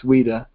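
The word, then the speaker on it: Ouidah: It's with a Q, so you want to pronounce it with a Q, but it's Ouida.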